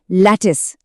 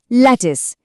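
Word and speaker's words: lattice: अब एक बहुत ही दिलचस्प शब्द आता है जिसका उच्चारण थोड़ा ट्रिकी हो सकता है। इसे हम कहते हैं लैटिस। मैं फिर से रिपीट करती हूं। एल ए टी टी आई सी ई लैटिस।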